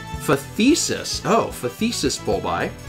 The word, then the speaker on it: phthisis: It's pronounced phthisis.